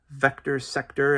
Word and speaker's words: VCTR SCTR: Vector Sector, and the reason why I think that's how it's pronounced is it's VCTR SCTR.